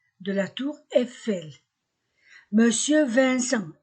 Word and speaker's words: Vincent: Monsieur Vincent, IN se prononce un. Ce ENT, en.